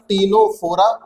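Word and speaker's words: Ctenophora: तीसरा आता है फाइलम टीनोफोरा, इसमें सी साइलेंट है।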